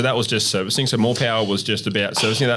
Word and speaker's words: Morpowa: So Morpowa is spelled MORPOWA, and everyone's like, you're retarded, like you can't even spell. But MOR is more, and then the PO is Podlewski, and the WA is the business partner of Alan Ward.